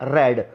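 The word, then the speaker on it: read: हु रेड the letter, यहाँ इसको मैंने रीड नहीं पढ़ा क्योंकि ये रीड की सेकंड फॉर्म है, लिखने में आती है ऐसे ही, लेकिन होता क्या है, रेड। तो हु रेड the letter, pronunciation इसका रेड है।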